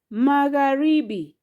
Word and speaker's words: magharibi: Next magharibi. Magharibi. Magharibi has syllable magha ribi. Those are four syllables.